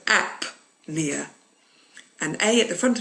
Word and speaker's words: apnea: You don't pronounce the P. But in the next word you do. So apnea.